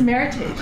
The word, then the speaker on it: Meritage: So the Lyeth Meritage, it's not Meritage, Cheryl. It is Meritage. It is an American word that was invented to honor this blend. It is not a French word.